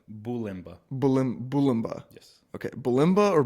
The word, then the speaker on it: Bulymba: Bulymba.